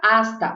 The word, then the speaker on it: hasta: O que significa hasta? Hasta significa até, tá bom? A gente já viu que o H a gente não pronuncia nunca, então vai ser até. Hasta.